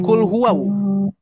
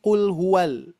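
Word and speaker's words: قُلْ هُوَ: Bukan kul huwau. Perhatikan ya, bukan kul huwau tapi kul huwal.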